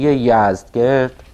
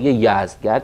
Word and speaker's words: یزدگرد: و از آن پس غم و شادی یزدگرد، این فردوسی بعضی جاها یزدگرد رو با کرد و گرد و اینها قافیه کرده، یعنی به نظر میرسه که تلفظش یزدگرد باید باشه. بعضی جاها با گرد کردن و گرد آمدن و اینها قافیه کرده که به نظر میرسه باید یزدگرد تلفظ بشه. به هر حال مثل که حالا یا چیزی بین این دو بوده و یا اینکه هر دو تلفظ درسته.